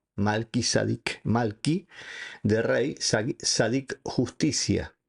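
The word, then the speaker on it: מלכי־צדק: El mismo nombre hebreo Melquisedec o que en hebreo se pronuncia así, Malki Sadic. Malkis sadik malky de rey sadik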